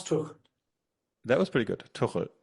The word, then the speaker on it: Tuchel: Tuchel. Thomas Tuchel. That was pretty good. Tuchel. Yeah, with an L in the end.